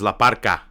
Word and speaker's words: La Park: Or in Mex, it's spelled La Park with a capital K, but in Spanish you say it Ka, so it's La Parka.